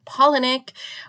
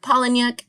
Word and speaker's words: Palahniuk: Yes you heard it right I said Chuck pollinic which is the correct pronunciation of the author as you will recall